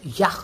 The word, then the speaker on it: Jacques: So Jac Dida uh is actually spelled as Jakis Darita Ju S I D Jakis Darida but it he is pronounced as Yak Da.